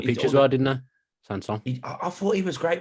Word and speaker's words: Sanson: I mean, you've got Sanson right, I would say. Sanson. The way you say that is correct. He got the pitch as well, didn't he? Sanson.